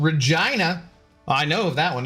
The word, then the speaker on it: Regina: Um, and there's also a city in Saskatchewan that's called Regina.